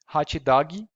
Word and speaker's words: hot dog: some hot dog but the pronunciation would probably be hachidagi and that's how we say it in brazil that happens because portuguese